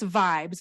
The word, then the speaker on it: VYBZ: And then it's Vibes, but it's spelled VYBZ.